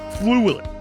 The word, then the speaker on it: Thewlis: This week's excerpt will be read by John and is from The Late Hector Kipling by David Thewlis.